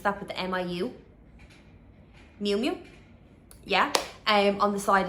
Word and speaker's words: Miu Miu: And they also have like the fake Miu, I don't know how to pronounce that, but the M-I-U. Miu Miu, yeah, on the side as well.